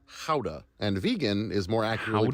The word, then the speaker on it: Gouda: More accurately pronounced howa and vegan is more accurately pronounced vegan.